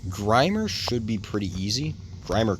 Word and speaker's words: Grimer: should be pretty easy grimer kinda rhymes with Fiverr so maybe Fiverr should